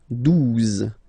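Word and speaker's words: douze: O, U, the two together will give you the sound OO, okay? And then Z, 12, 12, all right?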